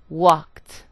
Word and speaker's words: walked: cried in the second I produced the T sound walked and finally in the